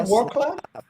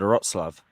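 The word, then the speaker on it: Wrocław: Isn't it Warclad? No, I thought it was, but then I typed in the pronunciation. It said Wroclaw.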